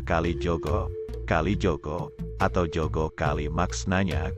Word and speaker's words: Kalijaga: cerita Islami penyentuh qalbu sebenarnya dalam bahasa Jawa pengucapan Kalijaga adalah Kalijogo Kalijogo atau Jogo kali